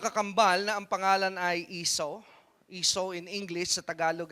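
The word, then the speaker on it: Esau: Pero iso sa English if you pronounce it in the English word.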